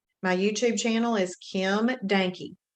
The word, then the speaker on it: Dahnke: My YouTube channel is Kim Dahnke. D-A-H, H is silent, but D-A-H-N-K-E.